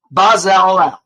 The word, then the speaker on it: Bezalel: Bezalel. Accent is on the last syllable.